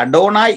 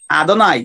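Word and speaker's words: אֲדֹנָי: അദോനായ് നമ്മൾ ഇംഗ്ലീഷ് ഉപയോഗിക്കുന്ന അഡോണായ് എന്ന് പറയാറുണ്ട്, പ്രൊനൗൺസിയേഷൻ അദോനായ് എന്നാണ്, അദോനായ്.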